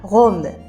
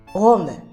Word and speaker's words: rhum: フランス語でラムシュのラムってこういう風に書くんですけど発音はゴムイタリアのローマの発音と同じです。ゴムです。